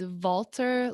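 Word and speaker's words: Valter: again the internet there for a second it's walter longo okay v-a-l-t-e-r so he has been studying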